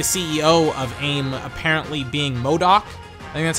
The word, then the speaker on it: MODOK: I think the CEO of aim apparently being MODOK that's how you say his name here's like